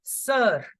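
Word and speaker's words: sœur: Brother simply as frère, frère for brother, and sister as simply sir. Like in English, what do we say? Sir. The same pronunciation goes for sister in French.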